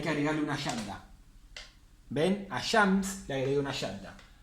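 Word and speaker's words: الشمس: Entonces, en las solares vamos a saltearnos la L, no vamos a pronunciar la L, y la primera letra de la palabra la vamos a pronunciar doble.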